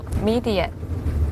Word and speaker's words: Medet: will follow you back too Your name is Mi Die How do you spell it M E D E Then T MEDET,